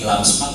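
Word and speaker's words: LAMSPAK: Terima kasih dari LAMSMAK, singkatannya Lembaga Akreditasi Mandiri Sosial, Politik, Administrasi dan Komunikasi, LAMSMAK. Jadi dibacanya sekali aja, jangan SMAK.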